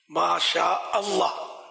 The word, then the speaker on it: ماشاء اللہ: کر رہے ہوتے ہیں بعض لوگ، یا ماشاء اللہ ماشاء اللہ نہیں ہے نا، ماشاء اللہ، ماشاء اللہ صحیح تلفظ تو یہ ہے نا، انشاء اللہ